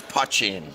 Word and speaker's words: poitín: pot okay so it's poaching hachi hachi and that's the way to say it up in Northern Ireland yeah and I make my poaching in Northern Ireland it's